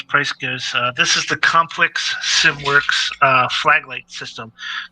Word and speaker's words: COMPLX: This is the Complex SimWorks flag light system. So it's Complex is spelled COMPLX SimWorks, and basically what they